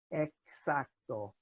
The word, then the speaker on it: exacto: And so X is pronounced, unlike English, without voicing. So it's not exact, it's exacto, exactamente.